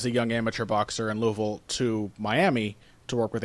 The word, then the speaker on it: Louisville: uh and which they mis mispronounced repeatedly as Louisville, which everyone always does, but if you're from this area, you know it's Louisville.